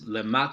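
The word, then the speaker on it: Lemaître: while but Friedman and a name that's very very hard for English speakers to mount pronounce Lamacq today it's messing it up but it's as close as I can get basically extended his field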